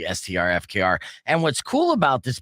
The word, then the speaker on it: STRFKR: spelling it out so I would say star effort uh but you know it was kind of my brand to mispronounce names all the time anyways so um you know my audience forgave me once they figured out it's actually strfkr and what's cool about